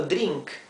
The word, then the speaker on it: drink: drink lo he escrito drink aquí en verde pero sepan que la r se pronuncia R con la lengua eh dada vuelta hacia atrás del paladar sí drink luego los verbos